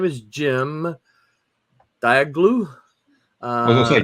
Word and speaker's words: Cem: That's Jim. That's pronounced Jim.